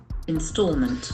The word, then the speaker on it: installment: endings must be noun installment installment the letter A has got o sound installment installment one of